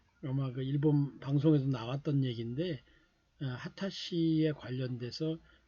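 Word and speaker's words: 秦: 바꿔 진 거죠 그래서 발음은 하타 라고 했습니다 그리고 또 1 쪽으로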